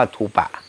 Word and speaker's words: ธูปะ: เคย เรียน บาลี ใน ใน บาลี ก็ จะ อ่าน ว่า ธูปะ หรือ ธูป เนี่ย บ้าน เรา เรียก ธูป แต่ แต่ มคต น่ะ เรียก ธูปะ ถ้า ความ หมาย คำ